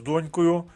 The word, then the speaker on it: донькою: тоді б мати з донькою був би складений підмет А так зась корисна інформація по цьому реченню перше Зверніть увагу на слово донькою наголос на першому складі Не плутати зі словом дочкою по-перше по-друге погляньте на